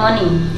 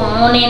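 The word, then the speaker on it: money: उसके बाद होता है मनी ठीक है एम ओ एन ई वाई को पढ़ते हैं मनी मनी मतलब धन या पैसा तो इसको मोने नहीं मनी पढ़ते हैं स्कूल बुक्स ठीक है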